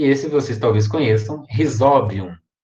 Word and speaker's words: Rhizobium: esse você talvez conheço rhizobium é tão penúltima sílaba é uma vogal seguida advogado joga a tônica na penúltima a e se nada